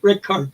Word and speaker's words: Richard: classical album by shoot Richard Strauss. Mhm. Strauss or Rickard Strauss it would be pronounced.